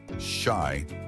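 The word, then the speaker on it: 四: In Japanese culture, the number four is considered unlucky because its pronunciation shy is similar to the word for death.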